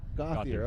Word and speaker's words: Gauthier: Let me say, am I saying it right, Gauthier? Gauthier.